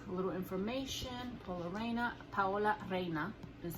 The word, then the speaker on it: Paola Reina: of the box a little information polo arena Powell arena is how you pronounce it and the original and I'll show